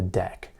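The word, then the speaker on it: deque: structure that python offers called a deck that's spelled d-e-q-u-e now a deck is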